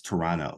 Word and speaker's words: Toronto: Toronto it's very nice I say Toronto they say hey you're not from here because I always would say the extra T like I would pronounce them both because there's two T's but apparently it's Toronto so it's nice out